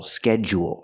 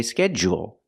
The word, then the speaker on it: schedule: to JJ for example schedule right we don't say schedu we say schedule so the same thing